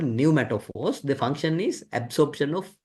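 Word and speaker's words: pneumatophores: Then uh if you look at uh this one, this is uh called new metaphors. P is silent. So we call new metaphors.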